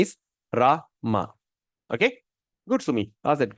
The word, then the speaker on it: Rama: is Rama not Ram sometime people make mistake ram ram actually the syllable the two syllable word Ram is one syllable R is two syllable so the proper pronunciation is raah ma okay good sui that's it very good question